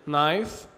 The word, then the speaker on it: knife: حرف الكي لو جه وراء حرف الان فإن حرف الكي لا ينطق، ما بننطقوش. ناخد أمثلة. كلمة knife، no، knee، kneel، knock.